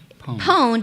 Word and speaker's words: pwned: I been what pwned pwned is spelled like owned like I own something but with a p I know it sounds